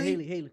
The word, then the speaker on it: Halle: Is that how you pronounce her name? Yeah, Haley. Yep, Haley.